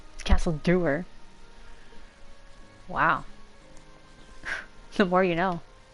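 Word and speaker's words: Castle Dour: Imperial Quests for the Civil War I was pronouncing a castle dower apparently it's Castle Dewer wow the more you know I still can't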